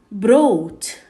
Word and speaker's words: brought: example bring becomes broad we don't pronounce the g and the h so bring brought by boat fight fault